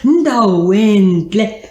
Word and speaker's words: Ndalwentle: Ndalwentle.